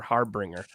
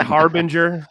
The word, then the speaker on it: Harbinger: thought time I thought was called Harbinger or harbringer it's pronounced Harbinger in which I now know Evan how do